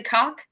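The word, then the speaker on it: Cooke: It's actually Cock. The E is silent.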